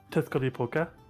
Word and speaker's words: Tezcatlipoca: Or Tezcatlipoca.